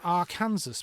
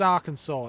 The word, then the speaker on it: Arkansas: Look, we've got an R Kansas back here. Uh, is what? Why is that pronounced Arkansas? It's literally Kansas. Kansas with an a.